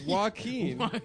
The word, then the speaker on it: Joaquin: It's Joaquin.